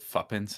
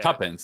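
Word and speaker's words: tuppence: use that, you know, is it fuppins? Is that how you say it? Like he's going to give the the pennies the pennies. Yeah, tuppens. That's the word.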